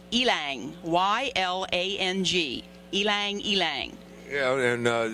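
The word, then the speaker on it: ylang-ylang: look it up to find out how to pronounce it it's ylang y-l-a-n-g ylang ylang yeah and uh just the natural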